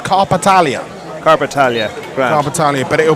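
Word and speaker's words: Karpatalya: you to Barnaby hands are clearing up the pronunciation it's carpetalia carpetalia carpetalia but it will be fira ursulin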